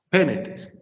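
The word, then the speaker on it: πένητες: Pénetes. El acento no lo he tenido que modificar por ningún momento, porque la última sílaba que regula sigue siendo breve, pénetes.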